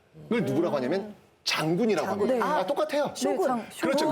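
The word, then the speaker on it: 将軍: 쇼군. 그렇죠. 그 장군을 한자로 장군을 일본식 발음으로 쇼군.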